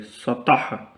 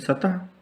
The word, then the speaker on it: सतह: देखिए तो की आवाज़ इस तरह निकलेगी, सतह। लेकिन हम लोग हिंदी में बोलते हैं सतह, लेकिन वो सही नहीं होता है।